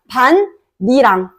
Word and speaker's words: 밭이랑: 그래서 밭 미랑 근데 디귿 니은이 만났네 디귿 니은이 만났어 그러면 어떻게 돼 디귿이 니은이 돼야 되겠죠 자 그러면서이 디귿이 니은이 또 되는 거야 반니랑 요렇게 발음이 돼야 돼요 반니랑 반니랑 국의 음마가 일어나는 것이 아니라 음절의 끝소리 교 축과 니은 첨과 그리고 비음 아를 거쳐 가지고 반니랑이라고 발음이 돼야 되고 형식 형태소가 오는 경우에는